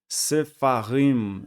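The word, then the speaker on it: ספרים: A pronúncia do Shivá sonoro é algo mais ou menos aí de uma mesclagem do som de A e do som de E. Então tenta pronunciar o A pronunciando o E ao mesmo tempo, mais ou menos assim, ó. Sfarim, Sfarim. Se você pronunciar bem rápido, fica quase parecendo o som de I, ó. Sfarim, Sefarim, Sefarim. Não é nem E e nem A, é Sefarim, Sefarim.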